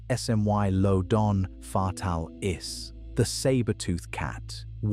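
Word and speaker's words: Smilodon fatalis: we didn't understand until recently is Smilean fatalis pronounced smmy lodon fatal is the saber-tooth cat about 6 to 900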